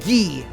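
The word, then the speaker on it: 危: this just says, well, it's pronounced gi, but if you were to use it in the actual word that it's part of, it's abunai, danger.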